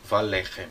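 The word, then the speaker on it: וָלֶחֶם: a palavra para rebanho, ou com algumas palavras que têm tonicidade na primeira sílaba, como por exemplo a palavra lechem, que significa pão. Então, valechem.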